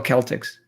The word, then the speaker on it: Celtics: How do you spell Celtics? Celtics the same way as it's spelled there. Okay, well, it's a soft C for us. All of you hard C's over there can yell all you want.